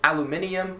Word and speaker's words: aluminium: they're trying to say next up is aluminium which is aluminum as we would say it third is oregano or